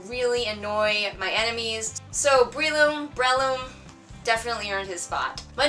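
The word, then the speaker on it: Breloom: My number 6 slot goes to Breeloom, or Breeloom? I always pronounced it Breeloom, but I think it's Breeloom.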